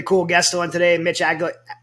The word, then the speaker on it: Aguiar: guest on today, Mitch Aguiar. Did I say it right? Aguiar. I want to say Aguilar because I'm from Louisiana, but Mitch was a 10-year